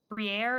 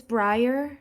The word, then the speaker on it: Briar: Before we get started, is it Briere, or did I pronounce that wrong? Or It's Briar.